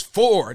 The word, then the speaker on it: for: That's not how you say it. Say it right. It's for, not foe, every single time.